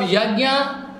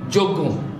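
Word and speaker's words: यज्ञ: Your sankirtan is the best procedure of yajna. Yajna, don't pronounce wrongly, joggo. Those who are Bengali person, there is a joggo.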